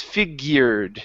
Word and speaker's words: figured: of figured okay H take off the E here on the end right here so instead of figured it's figured try that figured good